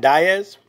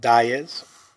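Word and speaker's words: Díaz: Matt Diaz. He pronounced it Diaz. He was not Diaz because I believe he's Portuguese.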